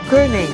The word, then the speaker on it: Koenig: Il giorno prima aveva scoperto Koenig Island. La pronuncio così rispetto al Coney attuale perché Koenig, nella lingua degli olandesi, vuol dire coniglio e ne trovo tantissimi.